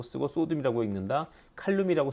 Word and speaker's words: 칼륨: 칼륨이라고 쓰고 포테슘이라고 읽는다. 왜 영어식으로 읽는 게 아직까지는 더 국제적으로 인정받기 때문이죠.